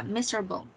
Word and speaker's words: miserable: Yeah, miserable. Miserable. It has a four syllable, so miserable.